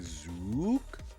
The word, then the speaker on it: Zook: Oh, the canonical pronunciation is the sound Super Metroid doors make, like Zook.